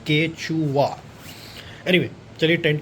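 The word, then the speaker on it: Quechua: लोगों ने इसको ख़रीदा डेकाथलन से एंड इसको प्रोनाउंस किया जाता है केचुआ।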